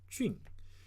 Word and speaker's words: 隽: Okay, it has another meaning with different pronunciation called 俊.